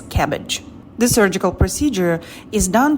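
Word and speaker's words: CABG: coronary artery bypass surgery c a b s it's pronounced as cabbage the surgical procedure is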